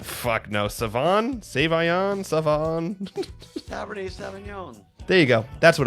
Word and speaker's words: Sauvignon: Cabernet Sauvignon.